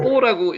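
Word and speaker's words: בוא: 실제로 읽을 때는 뽀라고 읽으셔도 됩니다. 왜냐면 경강점 여기 찍혀 있죠.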